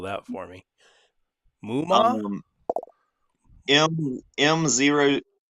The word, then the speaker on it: Moomaw: Muma? M0. How would you say it? MOOMAW. Muma? Lake. Moomaw is how we pronounce it.